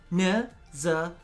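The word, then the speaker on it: Nezha: because I feel like people are finally getting the proper pronunciation of Neza. Neza. Neza. Now, I know that other people have tried pronouncing this differently before, but trust me, I'm part Chinese. There's no way that I could be wrong.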